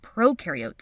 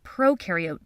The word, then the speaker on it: prokaryote: cells video when you think of prokaryote think of pro rhyming with no no nucleus no membrane-bound organelles